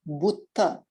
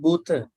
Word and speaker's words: Buddha: Tasmahi Buddha. Not Bhuta. Bhuta. Buddha. Okay.